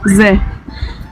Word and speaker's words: З: Ensuite on va voir le z, qui se prononce З.